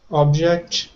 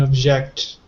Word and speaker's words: object: something all right and what about the pronunciation difference object and object excellent so this one